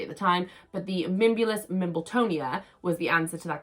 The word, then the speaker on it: Mimbulus Mimbletonia: I answered, and I could never say it right, so I was dying to make sure I pronounced it correctly at the time. But the Mimbulus Mimbletonia was the answer to that question.